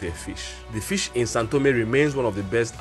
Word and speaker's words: São Tomé: language speakers will say Sao but is actually pronounced Sun like s-a-n so bear that in